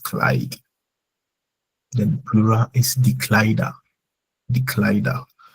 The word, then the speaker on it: Kleider: Then plural is die Kleider. The Kleider. Whenever a noun ends, and I'm saying like a word ends with er, we go for a. The ar is pronounced as a.